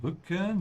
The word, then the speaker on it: Rücken: Der Rücken, make sure you pronounce the umlaut, is the back.